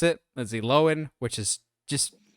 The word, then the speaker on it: Lindsay Lohan: Lindsay Lohan now and yes that's how you pronounce it Lindsay Lohan which is just sounds weird to say but